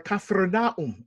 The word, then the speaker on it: Capernaum: for example um behind me now this is Capernaum or kafernaum as it is actually pronounced and this behind me is a place